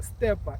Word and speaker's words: Steppa: Steppa, STEPPA, not PER. It's double PA. Facebook, Twitter, Instagram. Yes, all the social networks. You can find ital Steppa. Just go to Google, type DJ ital Steppa.